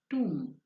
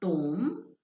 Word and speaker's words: tomb: the alien again wrong bad pronunciation it is just two it's not tom it is true again it is um it is just comb and not comb that b remains silent okay in tomb as well as in cone